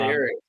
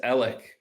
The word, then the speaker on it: Alec: It's not Eric. It's Alec. Alec.